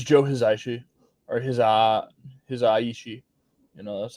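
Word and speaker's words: Hisaishi: know it was joe hizaishi or his uh his aishi you know that's how it's pronounced um and i thought ost was really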